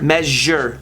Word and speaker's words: measure: measure pleasure or measure the sound in words such as pleasure and measure is often difficult for native germans to pronounce the result is often a break in the middle of the word which makes it sound more like mis her than the sound so yeah pleasure measure listen to my pronunciation pleasure me it's like a j it's like a little j you know what i'm